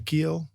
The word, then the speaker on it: Giel: I think the hard G throws people off. The J. But yeah, just it's German.